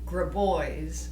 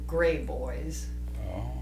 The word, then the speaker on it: Graboys: pronounce your last name graboys is the proper pronunciation I'm told from Tony side of the family but they've changed it to gray boys because three boys probably